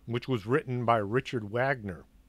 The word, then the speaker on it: Wagner: was written by Richard Wagner I know it's pronounced Wagner but it's spelled with a W so I pronounce it Wagner it's like Warner von